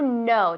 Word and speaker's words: know: Tiene una K, pero no se pronuncia. Es silenta. Silenta decimos. Silenciosa. Silenciosa, pues no sabía. Silenciosa. To know, decimos. Que no, no. To know. To know, como yes, no.